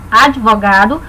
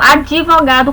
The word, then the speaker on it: advogado: Advogado, cuidado também com essa palavra, que algumas pessoas pronunciam advogado ou advogado com o próprio I. Não, ela é advogado. O D e o V formam um encontro consonantal.